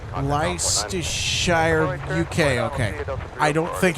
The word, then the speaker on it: Leicestershire: Leicestershire, okay. Leicestershire, okay. Thanks for the help with the pronunciation.